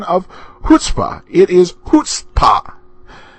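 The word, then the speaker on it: chutzpah: the correct pronunciation of hutzpah it is the ch is pronounced like the h and i know i've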